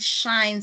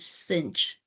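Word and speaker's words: sinh: Some people call it shine. Some people call it cinch. Pronounce it. Okay. In this work they they pronounce it as shine of x.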